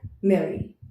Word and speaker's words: Merry: तो मैरी का प्रोनाउंसिएशन कैसे होगा? जैसे पेन और मेन को बोलते हैं, pen, main and मैरी, right.